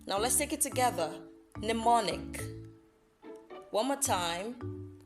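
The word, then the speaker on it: mnemonic: slly n niic now let's take it together pneumonic one more time pneumonic I know I know you're asking but there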